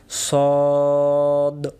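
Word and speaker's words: ص: পরের অক্ষর হল সদ আমরা ছোটবেলায় মক্তবে এটাকে আমরা অনেকে বসছিলাম সয়াদ দোয়াদ সয়াদ দোয়াদ তহলে আমরা সয়াদও নাদও না সঠিক উচ্চারণ সদ বলেন টান দিয়ে বলেন সদ আবার বলেন সদ সদের চেহারা তিন রকম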